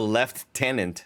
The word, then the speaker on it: lieutenant: right uh he gets promoted to left tenant not Lieutenant uh he gets promoted to Lieutenant which is um how the British say it I forgot that